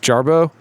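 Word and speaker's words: Jarboe: I think it's pronounced Jarbo.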